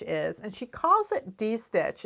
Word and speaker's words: distitch: what D stitch is and she calls it D stitch it's spelled this way because there's a term in